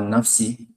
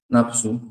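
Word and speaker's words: نفسِ: Kalau bahasa Arabnya hawa nafsi. Indonesia kan jadi hawa nafsu. Padahal salah tuh. Harusnya nafsi, mudhaf ilaih.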